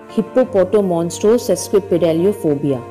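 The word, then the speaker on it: hippopotomonstrosesquippedaliophobia: Hippopotomonstro sesquipedaliophobia.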